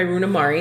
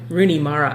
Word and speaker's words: Rooney Mara: yeah um played by Runa Mari who I didn't Mara who I didn't actually Rooney Mara I was Runa Mar I always want to pronounce her name wrong um I didn't actually